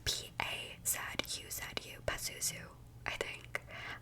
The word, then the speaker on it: Pazuzu: So it's P-A-Z-U-Z-U, Pazuzu, I think. I just feel like there's no other way to pronounce that, Pazuzu.